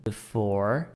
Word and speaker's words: before: Pode ver que eu não falo a letra E do before, eu paro na letra R, porque quando eu tenho a letra E no finalzinho, eu não pronuncio.